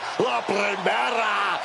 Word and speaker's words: La Primera: La Primera. Stephanie McCare. You need to roll your R's a little bit on that, man. La Primera.